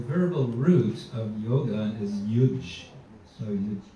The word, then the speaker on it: yuj: So the verbal root of yoga is yuj. So you spell it in Latin transliteration, upsilon u yot, you would say, yot. So that's yuj.